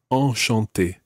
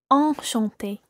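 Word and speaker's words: enchanté: in Bora Bora SWAT all shanti is a slightly different nasal sound and your mouth needs to be wider for that all shanti all Shante and that's where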